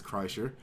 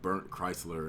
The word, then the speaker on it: Kreischer: I did finally learn how to pronounce his name it's crusher I've had a lot of people requests or not requests but a lot of people correct me on that from the first video I heard a lot of people give me weird ass pronunciation - like burnt Chrysler and stuff like that